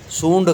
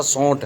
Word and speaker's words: سونٹھ: ہمارے ہاں سندھ میں سونڈ کہا جاتا ہے، سونڈ، تو ممکن ہے کہ سونڈ کے نام سے بھی کچھ پنساری حضرات جانتے ہوں گے، لیکن ہم کہتے ہیں اس کو اصل تلفظ جو ہے اس کا سونٹھ ہے۔ سونٹھ، گڑ اور ہڑ